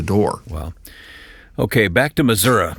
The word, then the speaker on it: Missouri: Okay, back to Missouri, as I was taught to pronounce it. Missouri in my newsman days, as brief as they were. The correct way.